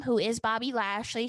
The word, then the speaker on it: Lashley: name who is Bobby Lashley she mispronounced his last name as Ashley she talked about the